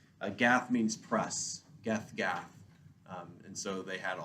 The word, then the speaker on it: Gath: And they don't pronounce the H. So it's They'll be call it Gat. Like Yeah. cat, except with a G.